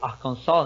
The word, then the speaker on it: Arkansas: Vamos começar pela Universidade de Arkansas, ou Arkansas, né, como é o correto se pronunciar, né, não sei porquê, mas Isso, Arkansas. é o correto. Você sabe explicar, Rodrigão? Porque o S no inglês, na funda da palavra, é mudo.